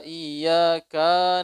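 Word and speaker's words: إِيَّاكَ: Jangan nyambung, ada sebagian imam bacanya nyambung. Iyyaka na'budu wa iyyaka nasta'in. Kana sama kanas. Kana ini di dalam bahasa ini minal abna'il iblis, daripada anaknya iblis. Kana itu anak laki-laki, kanas itu anak perempuan. Jadi kalau kita bacanya jangan nyambung. Ya, kafnya misah dia. Pisahnya tipis.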